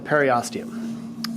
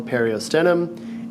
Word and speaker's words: periosteum: on the outside is called the periostium some teachers or instructors will call it the periosteum it doesn't matter it's spelled the same so periostium is going